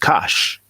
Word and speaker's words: Kush: And what we know as Kush in Medu Neter is actually pronounced Kash. And Yes. that rectangle that gives us the sh sound, Hmm.